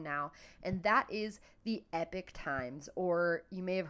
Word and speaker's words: Epoch: Epoch I call it Epoch in my head but I think they actually like when you watch an ad from them they pronounce it epic but it's spelled e